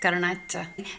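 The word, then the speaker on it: garnacha: And the you're supposed to go have like a n sound at the beginning. The gar gata. Garnetta.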